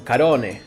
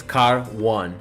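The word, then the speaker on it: Car One: Argentina, he was like, I want to buy a car from Carone. And I'm like, wow, that sounds really Italian. Like, Carone. And then he shows me the place, and it's car 1.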